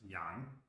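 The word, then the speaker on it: 洋: This character means ocean, and it's pronounced yang.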